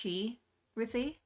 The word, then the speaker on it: x-rithy: Uh but it's pronounced Chi Ry.